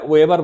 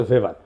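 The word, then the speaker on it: Weber: আরেকজন দার্শনিক আছে ম্যাক্স ভেভার। এটা ওয়েভার বলে অনেকে। এটা উচ্চারণ আসলে ভেভার।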